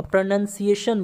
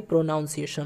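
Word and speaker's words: pronunciation: है ठीक है अ प्रनंसीएशन बोलिएगा प्रनंसीएशन ठीक है प्रवीण अंश दम ठीक है प्रनंसीएशन होता है ना कि प्रोनोउंसिएशन मंतर पर अनशन होता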